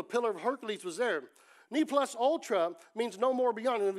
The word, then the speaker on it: ne plus ultra: I looked it up in the dictionary, and they had a pronunciation in American. It says Ni plus ultra. I'm like, that's boring, dude. That's a Latin word. Ne plus ultra.